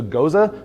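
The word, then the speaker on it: Gose: This is a Goza. Some people pronounce it Goze or Goza. It's a German word. You're going to be fine as long as you kind of get it close.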